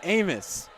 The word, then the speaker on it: Amos: wrong this whole time it's Amos like Famous Amos cookies that is a mistake